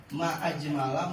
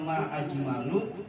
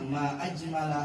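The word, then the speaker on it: ما أجمل: Itu salah ngarokatin, salah makna. Ma ajmala menunjukkan kegembiraan luar biasa, menunjukkan kekaguman. Kalau bacanya ma ajmalu, itu malah nanya, apa yang paling indah itu? Jadi bacanya ma ajmala hadhil ayat.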